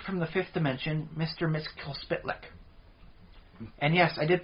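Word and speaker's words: Mxyzptlk: uh the Imp from The Fifth Dimension Mr Miss K splick and yes I did pronounce that right there's no vowels in the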